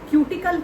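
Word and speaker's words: cuticle: एक spongy layer होती है पत्तियों में और क्यूटिकल होते हैं। कुछ लोग इसको क्टिकल भी बोल देते हैं। तो जो आपको सही लगे आप उसमें से कुछ भी प्रोनाउंस कर दीजिए।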